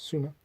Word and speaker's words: Sumer: It's not Summer, it's Sumer. The way it was originally, the way that the earliest documents presenting the lyrics of this song appear.